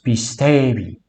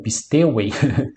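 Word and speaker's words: πιστεύει: O anthropos pistevi. Pistevi, pronúncia bizantina, ou pisteuei.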